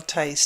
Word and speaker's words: Theis: I hope you enjoyed listening to Danielle Tice to hear her very positive story. She has a web page, and it's Danielle Tice Consulting, all one word, .com, and her last name is spelled Theis.